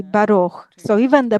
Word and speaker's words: Baruch: So, for example, in the Ashkenazi pronunciation would say Boiruch, in Sephardic Baruch, and in modern Hebrew you say Baruch.